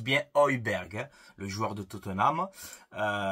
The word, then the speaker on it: Højbjerg: Højbjerg, donc ça se prononce bien Højbjerg, hein, le joueur de Tottenham.